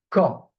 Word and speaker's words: quand: So it's not quan. It's quand. We never pronounce the U after the Q.